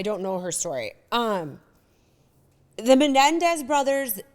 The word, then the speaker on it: Menendez: The Menendez brothers like intrigued me. Am I saying that wrong? I feel like you guys are laughing at me. Am I saying it wrong? Menendez.